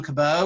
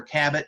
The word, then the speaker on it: Cabot: That it could have been that John Cabot or Cabot, depending on how you pronounce it, from the British,